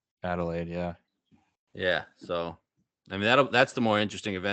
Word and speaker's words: Adelaide: years live Australia how do you say it Adelaide Adelaide yeah yeah so I mean that's the more